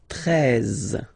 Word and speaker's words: treize: Then now if you combine this E and E, you get the sound E, really open. Treize, treize.